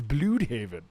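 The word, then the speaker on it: Blüdhaven: DC confirms that Bloodhaven has been pronounced wrong this whole time. It's Bloodhaven. Well, that's what the umlaut means. It means ugh.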